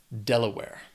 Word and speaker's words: Delaware: Has 3 syllables. Stress is on that first syllable. Delaware.